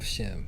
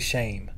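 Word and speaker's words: Shem: through the line of shim yeah it's actually not shim either we've been saying it wrong it's actually shame shame shame is actually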